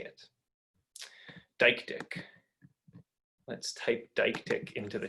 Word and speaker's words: deictic: The word here is what linguists call a deictic. It's a word whose meaning shifts depending on how you point it. What here is depends on where we say it. Deictic.